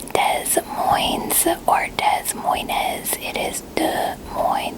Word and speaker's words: Des Moines: hear what they admire Iowa Iowa Iowa Iowa des Moines Iowa is where I live don't I and boy toy it is not pronounced Des Moines the part Des Moines as it is Des Moines the SSR silent